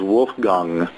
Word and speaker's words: Wolfgang: he pronounced it was Wolfgang so it's the gong instead of gang yang that's like an